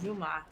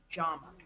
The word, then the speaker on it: Jama: And I just told him it rhymes with Obama. And that's that's how my family has chosen to tell other English speakers how to say our last name. It's not Juma, it's Jama.